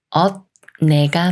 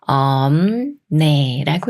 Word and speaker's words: 없네: 덤 네라고 읽어요 덤에 덤에이 말은 엇 내가 맞을까요 아니면 엄 내가 맞을까요 비읍 시옷 겹받침이 초석 니은을 만났으니까 시옷 받침은 빼고 비읍 받침이 미음 받침 소리인 음이 되면서 엄 네라고 읽어요 없네 없네이 남말 함유가